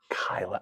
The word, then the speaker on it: Kyla: You pronounced your name Kayla, right? Kyla. Okay, I knew it.